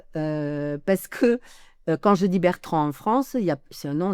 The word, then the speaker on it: Bertran: Or, moi, mon nom s'écrit sans D, et il est très courant en Catalogne, il y a des Durand, il y a des Bertrand, mais c'est Duran, Bertran. Il n'y a pas le D à la fin.